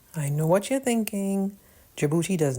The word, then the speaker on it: Djibouti: The first place I'll mention is Djibouti. Wait, I know what you're thinking. Djibouti does not start with A. You're right. Djibouti doesn't even start with what it sounds like. It sounds like J.